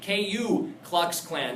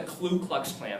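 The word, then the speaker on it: Ku Klux Klan: C clck Clan right don't mispronounce that or misspell it you'll sound like an idiot cou KU cluck Clan not the clu clux Clan that's what kids say all the time Klux Clan right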